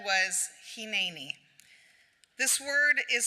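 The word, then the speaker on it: הִנֵּנִי: Except since Abraham didn't speak English, what he actually said was Hineni. This word is spelled out in Hebrew 178 times in the Bible, but 17 times, all except for 17 times, it's pronounced Hineni.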